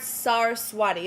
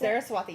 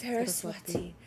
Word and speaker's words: Saraswati: item oh this is insane okay clear court sarwati is that how you pronounce it Saraswati yes Saraswati such a beautiful piece this is insane okay